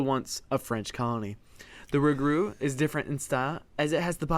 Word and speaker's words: rougarou: The loup-garou and rougarou words rhyme with each other because rougarou is a variant of French loup-garou.